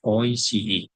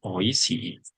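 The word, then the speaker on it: おいしい: Berikutnya ada contohnya ada kata oisi ini cara membacanya yang benar adalah ois bukan oisi.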